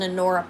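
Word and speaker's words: Honora: It's spelled H O N O R A, but the H is in uh is uh solid, but it is an Anora pearl sterling silver triple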